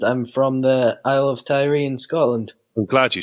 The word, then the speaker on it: Tiree: So I'm 16 years old, and I'm from the Isle of Tiree in Scotland.